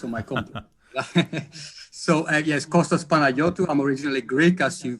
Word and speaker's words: Kostas Panagiotou: for inviting me and by the way you pronounced it very beautiful it's all my compliment so yes costas panayoto i'm originally greek as you can probably guess